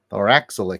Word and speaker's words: Thorax: Lord Thor Thor thorax let me see the pronunciation on the back thorax yeah I was right is still my favorite